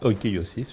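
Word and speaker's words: οἰκείωσις: Alors, tu me corriges si je prononce mal en grec, l'oikiosis, c'est correct? Oikiosis, oui.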